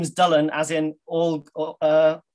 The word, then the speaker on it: Dylan: his throat because in welsh um dylan is pronounced dylan dullen and there's a story whether it's apocryphal or